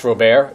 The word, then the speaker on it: Robert: Um, we have to do this with my CEO's name, uh, because her last name is pronounced Rober, but it's spelled Robert and so it it it consistently gets that wrong.